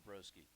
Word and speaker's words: Brzoski: Yeah, I was going to mispronounce it immediately, but it certainly worked out there as Brzoski. Hmm. Turns into Broski.